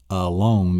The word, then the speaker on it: alone: So it's not a-lone. You don't pronounce it. The word A-L-O-N-E is not pronounced alone. It's alone.